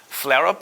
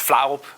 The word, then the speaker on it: Flarup: My Twitter handle is Flarup, I believe the Americans pronounce it. You guys probably have an easier time pronouncing. I'm Danish. It's Flarup.